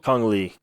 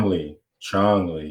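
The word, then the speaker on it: Chong Li: Kong Lee, right? All. Well, no, Kong Lee was the UFC fighter. Chong Lee. That's his name. That's how you say it.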